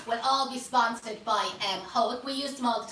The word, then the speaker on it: Hoek: I pronounce it Hoek, I think the proper pronunciation of it is Hoek, H-O-E-K anyway.